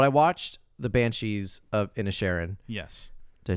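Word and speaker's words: Inisherin: watched the Banshees of in a Sharon yes did I say it right yes that was a joke in the Oscars like people keep saying initial but it's in a Sharon yeah in a Sharon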